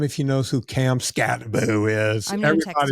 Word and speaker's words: Skattebo: His name is spelled, I think, Skatebo. Not that I'm in love with the man or anything. Skatebo? Yeah, it's pronounced Scatterboo. It might be two T's, Skattebo. Could be Boo. I'm not sure. Cam I mean, Scatterboo. it doesn't phonetically look like that, but that's okay.